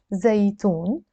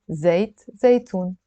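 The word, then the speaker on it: زيتون: Okay, so that's zaitoon, olives. And by the way, zaitoon is olive oil. So let's write zaitoon a couple of times, and then we can try to write zaitoon.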